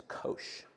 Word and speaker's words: Koós: pronounce my last name it's Kosh like kosher dill pickles so that's how you